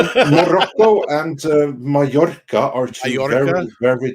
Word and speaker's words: Mallorca: Mallorca, yeah.